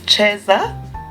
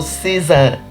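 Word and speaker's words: Caesar salad: let's make Cesar salad whether you pronounce it as chesa Italian or Cesar it is delicious on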